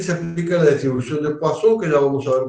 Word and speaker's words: Poisson: La distribución de Poisson, acá dice Poisson, es la distribución, digamos, Poisson porque es un apellido francés y se pronuncia así, Poisson.